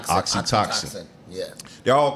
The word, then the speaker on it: oxytocin: uh I don't know the oxy oxy team how you pronounce that uh oxytocin that's right oxytoxin yeah they all call